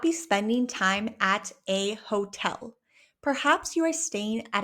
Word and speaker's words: hotel: You just say hotel. In Spanish, we do not pronounce the letter H.